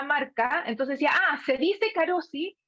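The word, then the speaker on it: Carozzi: televisión decían la marca, entonces decía, se dice Carosi, y así se escribe, entonces, Carosi, acá, entonces la C a lo mejor suena como K.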